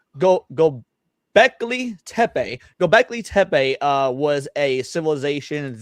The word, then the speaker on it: Göbekli Tepe: the discovery of, now just make sure I pronounce this correctly, Göbekli Tepe.